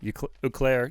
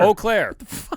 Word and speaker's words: Eau Claire: always say it wrong you claire you claire how do you say it the city oh claire eau claire it's e.a.u i'm sorry i started dude